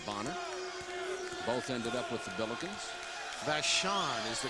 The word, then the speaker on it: Vashon: teammate of Anthony boner both ended up with vashan is the correct pronunciation I was giving it a Vashon one of the great high schools and Eddie